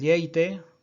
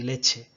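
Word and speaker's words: lleite: Y así tenemos lengua, ¿de acuerdo? Y tenemos llumbre, y tenemos el yobu, tenemos el yeite y tenemos el yagu, ¿de acuerdo? Este rasgo tampoco no se da en castellano, la L inicial no palataliza, consérvase tal cual y dicen lengua y lumbre y lobo y lago y leche.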